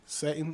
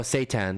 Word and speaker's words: seitan: Satan. Oh, seitan.